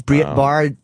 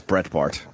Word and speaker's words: Breitbart: What time is Brett Bard coming? Bart. I believe 9. I think it's Brett Bart.